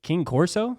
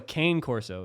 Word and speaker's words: Cane Corso: are oh let me look at a picture king corso a king course look up uh king corso mastiff mix oh a cane corso is everything okay yeah but it's spelled it's